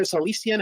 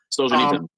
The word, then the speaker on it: Solzhenitsyn: Now they're already Alexander Solzhenitsyn, how do you pronounce his name? He called it a pious dream. Solzhenitsyn.